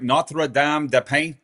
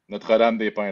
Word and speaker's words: Notre-Dame-des-Pins: Notre-Dame-des-Pins? How do you say your hometown? Notre-Dame-des-Pins.